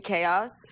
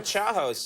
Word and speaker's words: chaos: and she was like, do you mean chaos? Yeah. And, yeah. I would have just stuck with, no, Chahos. Well, I did. I was sure that there were 2 ways of pronouncing it, and my way was okay.